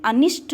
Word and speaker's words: अनिष्ट: शुद्ध होता है इसमें, जबकि अनिष्ट में अनिष्ट टा का प्रोनाउंसिएशन शुद्ध होता है। ध्यान रखिएगा, अनिष्ट शब्द में अनिष्ट टा का उच्चारण होता है, ना कि ठा का, तो अनिष्ट होता है।